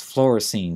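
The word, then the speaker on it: fluorescein: the procedure used to diagnose corneal abrasions that's Florine staining f l u r e s c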